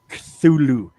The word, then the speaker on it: Cthulhu: No, the C is silent. Cthulhu.